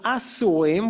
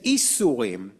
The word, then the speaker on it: asurim: Instead of asurim, which means captive, he said isurim, which means the forbidden things.